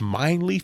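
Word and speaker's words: Mijnlieff: have my it's spell it's mine leaf but it's spelled m m-i-j-n-l-i-e-f-f from hopwood games it's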